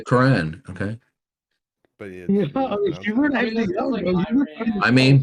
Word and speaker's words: Quran: Quran says is impossible why do you say the Quran that sounds like the most Americanized version to say it well how would you like me to say Quran it sounds like saying Iran correctly the Quran okay but yeah I